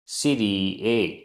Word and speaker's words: सिरीए: गाथा क्रमांक नौ उच्चारण तम तम खलु खलु सिरी सिरीए जहां ए के ऊपर आधा चंद्रमा है। इसका मतलब है ए का उच्चारण लघु के रूप में किया जाना है। दीर्घ के रूप में नहीं।